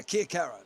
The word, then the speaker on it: Chiacchiera: He, Chris, I actually believe he jumped in chat and typed his name out in 3 syllables for us. Yeah, we seem to have it down pat now. Yeah, Chiacchiera.